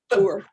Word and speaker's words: Boer: Well, it's like the Boer War. Boer.